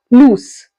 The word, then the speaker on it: loose: z sound lose and here we are ending with the S sound loose now first one meaning